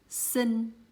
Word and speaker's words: xinh: See, the way I pronounce this letter and this letter are just exactly the same because I'm Southerner, so I don't separate these two letters.